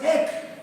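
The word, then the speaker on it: ἐκ: Y estas dos preposiciones por, repita, por, en griego es ek, que se escribe más o menos así, EJK, ek.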